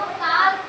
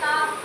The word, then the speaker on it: calf: CALF लिखते हैं तो काल्स है. क्या लिखते हैं? काल्स. बट प्रोनाउंसिएशन काल्स नहीं करते हैं. CALF लिखते हैं बट पढ़ते इसको क्या है? काफ. क्या पढ़ते हैं? हाँ, काफ. ठीक है, नॉट काल्स. यहाँ पे L महाराज जो ये सो रहे हैं, साइलेंट है ना.